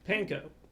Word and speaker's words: pain: Which is especially funny because of the French word for bread. Well, they call it pan, but you know what? There's an I in there. Mm-hmm. Another vowel they have somehow neglected to pronounce.